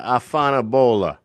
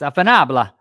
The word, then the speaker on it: afanabla: Afanabola. No, it's afanabla. Afanabla. Okay.